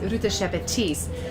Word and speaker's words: Ruta Sepetys: Ruta Sepetys. Lithuanian pronunciation is Ruta Sepetys.